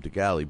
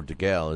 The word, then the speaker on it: DeGale: You know, I'm not taking anything away from DeGalley, but, you know, or DeGale is how you pronounce it, but Zuniga is not an easy fight for him.